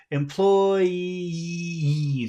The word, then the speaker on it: employees: employ one f one syllable finishes with E the next syllable starts with e what does that mean what do you have to do you have to so yeah we have to put extra sound that is a e yeah that should separate so it's employes it's very long a very long vowel sound at the end of that word especially because is that